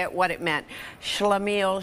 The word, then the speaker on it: shlemiel: Shlemiel Shlamazel. Shlemiel Shlamazel.